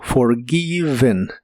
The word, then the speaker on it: forgiven: una n Así que se pronuncia como forgiven forgiven con la e muy suave y equivale a perdonado